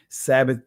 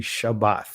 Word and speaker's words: Shabbat: Shabbat right and uh I know some of you guys say Sabbath Sabbath that is a Greek pronunciation right it is actually Shabbat right I'll say it